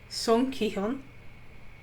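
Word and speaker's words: Seong Gi-hun: So again, it's the main character, the protagonist, is Song Ki-hyun.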